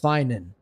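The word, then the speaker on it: Phainon: F on is actually it seems to be pronounced finin the O doesn't have that much emphasis so I will I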